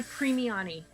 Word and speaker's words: Primiani: pronunciation of the session and I preemie Ani Italian it is okay thank you so